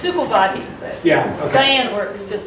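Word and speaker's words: Szukovathy: It's Sukovati.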